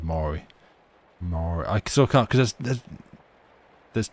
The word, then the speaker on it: Maury: Maori, but not like the indigenous peoples of New Zealand. Murray. Anyway, him. So this is just a little anecdote on Desert Bus last night. This is a composer of musicals who set out to write an adaptation of Phantom of the Opera. The TV host is pronounced Maury. Okay, let's go with Maury.